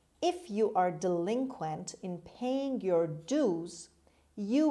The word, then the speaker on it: delinquent: four delinquent delinquent delinquent the stress is on the second syllable on l delinquent means an offender criminal